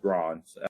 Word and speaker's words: Gron: Now, groan or Gron, and I think probably a lot of people groan when they see this person. But most likely, Gron, most likely is pronounced Gron.